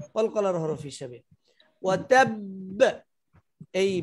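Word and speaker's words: وَتَبَّ: আর এখানে বে হবে তাব ওয়াতাব ওয়াতাব ধরে রাখতেই হবে, ধরে রাখতেই হবে। যদি ধরে না রাখেন কাসাব ওয়াতাব, তাহলে এক বা উচ্চারণ উজ্জ হয়ে যাবে।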